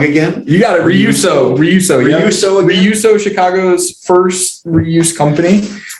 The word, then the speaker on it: REUSO: you, projects you got going on, hype up REUSO. I said it wrong again. You got it. REUSO.